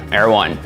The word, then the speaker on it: Erwan: Hello, is it Erwin or Erwan? Erwan.